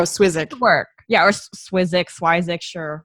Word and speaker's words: Swyszcz: Basically, we've been telling everybody we made up, or his Baba, his grandmother made up a pronunciation Swyszcz. So even though I guess phonetically looking at it, you wouldn't get that, but I would go Swyszcz.